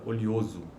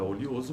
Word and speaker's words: oleoso: A palavra oleoso pode ser pronunciada com uma sequência de vogais pretônicas. Oleoso, oleoso, e aí tem uma transcrição fonética desta palavra. Ou com um ditongo crescente ocorrendo em posição pretônica.